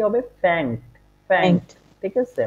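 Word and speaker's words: fängt: এটা হবে এফ আমলাউট এন গে এস টি, হ্যাঁ, তাহলে উচ্চারণটা কি হবে? ফ্যাংস। কি? ফ্যাংস। আর এজ এস ফর্মে কি হবে? ফ্যাংট।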